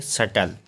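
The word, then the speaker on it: subtle: पढ़ेंगे डाउट अगला है एस यू बी टी एल ई टी से पहले बी आई तो इसको क्या पढ़ेंगे सटल अगला है सी साइलेंट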